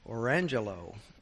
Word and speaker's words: Orangejello: But they did say, and this was a true story, there's one kid named Orangelo, and he says spelled Orangejello.